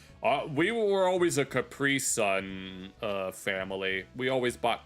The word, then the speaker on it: Capri Sun: Uh we were always a Capri Sun uh family. We always bought Capri Suns. Although allegedly the real pronunciation is Capri Sun since it's a German company. So it would be Capri Sun.